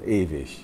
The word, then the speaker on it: ewig: Now, ewig is pronounced in German ewig. So at the end of Mahler's Das Lied von der Erde, it comes again and again, ewig, ewig.